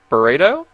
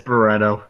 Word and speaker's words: Barretto: That is I know how to say Igor Burrito? I know how to say Burrito. Burrito. It is not burrito. It's Barretto. Barretto.